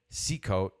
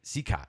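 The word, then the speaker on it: Cicotte: Kamiski supposedly screwing Eddie Secco. Is that I say his name right? Secott. Sorry.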